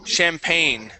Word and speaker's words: champagne: mingled mingled okay okay this is a a French word okay the word is champagne champag okay champagne champagne champagne